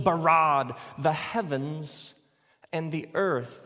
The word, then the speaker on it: bara: now the word for create is the word bara let me hear you say brah it's this forceful energetic word of making things out of nothing in the beginning Elohim barad the heavens and the earth now the earth